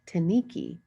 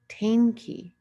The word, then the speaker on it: tainki: So it reads like Taniki, but it's pronounced Tainki, and that means thank you.